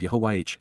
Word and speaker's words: Yahowah: And so, Yahuwah, the proper pronunciation of Yahuwah, our Eloah, God as directed in his Towrah,